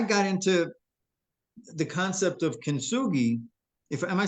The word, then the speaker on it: kintsugi: Yeah, Now, of course, I'm sure you're familiar with kintsugi, into with yes.